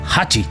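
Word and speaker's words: 八: El hombre creía que se parecían a la letra japonesa que representa el número ocho, que en japonés se pronuncia Hachi.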